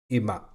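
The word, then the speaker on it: 今: uh which means now it's pronounced ima very simple that it's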